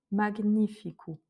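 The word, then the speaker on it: magnífico: En fait, le G avec le N se prononce pas comme en français. On va vraiment prononcer chaque consonne de manière isolée. Donc on va bien dire mag et après nifikou. Magnificou.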